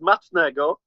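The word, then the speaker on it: smacznego: In Polish, it's matchgo.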